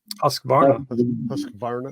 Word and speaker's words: Husqvarna: Someone else pronounce it for me. Husqvarna.